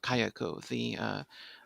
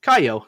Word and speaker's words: Kayako: I think that I lost a syllable because it just sounded like you said Kaio, and I was like, what? Like Kayako.